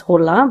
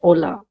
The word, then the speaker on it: hola: The h is silent. That's why we do not pronounce this word as hola but hola.